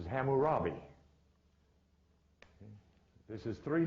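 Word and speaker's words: Hammurabi: ham but is Cam whose name is not cam but is which is pronounced in most literatures as hamurabi this is three names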